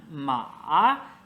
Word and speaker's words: 马: 面的存在。Horse 是马第 3 声，mother 是妈第 1 声。这里马就是给予它的发音，然后声调也很重要，因为不一样。